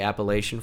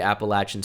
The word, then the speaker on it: Appalachian: uh and not they that's how they say it there I'd love to say appellation for you but they say Appalachian State so I gotta go